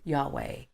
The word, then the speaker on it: Yahweh: H wh in Hebrew the most widely accepted pronunciation of yhw H is Yahweh but interestingly no no Yahweh is also the